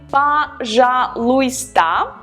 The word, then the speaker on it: пожалуйста: Please is пожалуйста. Пожалуйста. It's a difficult word and not all the letters are pronounced, so be careful with that. We write пожалуйста, but we pronounce пожалуйста.